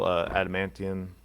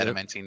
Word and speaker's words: adamantine: Yeah, and there's also the rare metal adamantium. Is that how you say it? Right? I think it's adamantine. Yeah, I mean I think that's how we all say it. Adamantine.